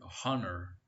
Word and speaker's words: honor: that begin with vowels in spite of its spelling the word honor begins with a vowel sound therefore we use n